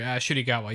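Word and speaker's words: Ncuti Gatwa: Shudigawa, yeah. He's fantastic. Is that how you pronounce his name?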